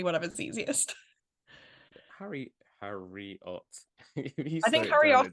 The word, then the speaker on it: Harriotte: it's if it's har everyone just calls me har there's no specific saying and I only asked my mom a few years ago I like by the way is my name meant to be pronounced different because even my whole life I've just been saying it like it's like Harriet just I just with a JY accent most people it's quite